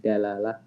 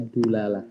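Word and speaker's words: دلالة: Ya, dilalah itu bisa dibaca tiga ya. Ada yang bacanya dilalah, ada yang bacanya dalalah, ada juga yang membacanya dulalah. Cuma ini paling jarang saya dengarkan yang orang nyebutnya dulalah itu paling jarang. Tapi bisa dibaca tiga ya. Dilalah, dalalah, dulalah.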